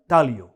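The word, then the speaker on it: taglio: A very popular pizza dish, pizza अल तालियो। यहां पे जी silent है और हम प्रोनाउंस नहीं करते उसे, सो इट्स अल तालियो, pizza Al तालियो।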